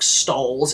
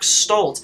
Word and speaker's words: Stoltz: stoltz's name wrong s-t-o-l-z his name's not eric stalls it's eric stoltz how did you [